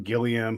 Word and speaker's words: Gilliam: And so do you say Gilliam or Gilliam?